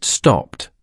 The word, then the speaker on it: stopped: Next is stop. The last sound is voiceless. The past tense is stopped, pronounced. Stopped. Repeat after me, stopped.